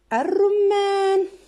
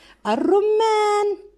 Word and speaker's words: الرمان: عندنا الرمان، الرمان هذه اللام الشمسية تكتب ولا تقرأ.